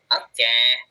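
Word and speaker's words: を: Tapi ketika jadi partikel bukan wo dibacanya tapi o ya.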